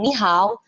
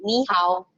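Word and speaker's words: 你好: ketemu nada tiga, ya, nada tiga untuk dua kata seperti ini, otomatis kata yang pertama itu berubah menjadi kata nada kedua, ya. Jadi ni hao, bukan lagi ni hao, enggak, tapi ni hao, ya.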